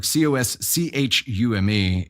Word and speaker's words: costume: He said costume, like COSCHUME, and it kind of stuck with me. And I asked him to say it again this morning just to make sure I hadn't misheard it. No, he just pronounces it differently.